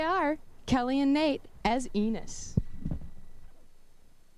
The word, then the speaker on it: Enos: Here they are, Kelly and Nate as ENOS (pronounced like penis without the P) * FOUR...